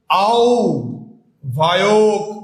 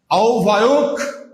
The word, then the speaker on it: আহ্বায়ক: আও ভায়ক। উচ্চারণটা হবে ওক, নট অক। আও ভায়ক, ওক উচ্চারণ হবে, অক হবে না।